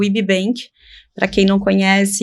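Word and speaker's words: Yby Bank: importante que é o IB Bank para quem não conhece e queira procurar também nas redes sociais na internet ibank se escreve yby Y Bank que é o primeiro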